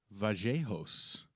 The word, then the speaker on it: Vallejos: So, Kevin Vajos, as they are pronouncing it, I learned he is indeed from Argentina, where I know for a fact that people say Tortisia.